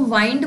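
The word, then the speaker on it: wind: अब विंड का एक और मतलब होता है बांधना। हालांकि इसको वाइंड बोलते हैं। प्रोनाउंसिएशन चेंज हो जाती है।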